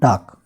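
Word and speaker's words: talk: टाक। तो एल हम साइलेंट रखते हैं इसमें।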